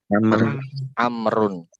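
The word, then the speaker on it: عمرو: Kemudian kalau di sini tadi kalau ada waw di akhir maka bacanya gimana? Amrun.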